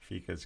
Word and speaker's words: fika: The Liger says there's a Swedish thing called fika you should look into. I hope he explains that because I have no idea what it is. Fika Fika, is coffee. Fika's If, coffee.